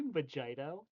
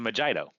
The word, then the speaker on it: mojito: say did she just say vagito? Yeah, it's a Mojito. You get some lime, a white rum, and some mint. Oh, you two are cute. It's my favorite drink. It's pronounced mojito.